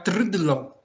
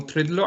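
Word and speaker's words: trdlo: em Praga, é o trudlo, que é muito difícil de pronunciar, T-R-D-L-O, ou seja, 4 consonantes seguidas, mas é um doce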